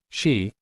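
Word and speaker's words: sídhe: links the dullahan to the shei pronounced shei often translated as fairies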